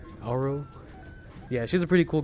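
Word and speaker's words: Aero: characters like Arrow um or is it Arrow it's spelled a-e-r-o Arrow yeah she's a pretty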